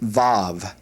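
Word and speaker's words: וו: Hebrew alphabet is pronounced vav. Vav. And uh it's basically given two different uh pronunciations in English. Sometimes uh certain schools will make this uh with a V and sometimes with a W and uh our pronunciation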